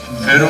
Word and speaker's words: Pharaoh: Pharaoh is a Greek pronunciation and formed from Pir'a, and that's the high house.